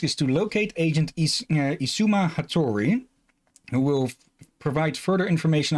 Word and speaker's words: Hattori: Her first task is to locate Agent Isuma Hattori, who will provide further information on her assignment. You butchered what?